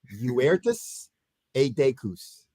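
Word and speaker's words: Virtus et Decus: In Latin, Uertus Edecus. Uh-huh. All right, Uertus, Uirtus, Uertus can be translated either honor or excellence. A is and, decus, distinction. So honor and distinction, or excellence and distinction.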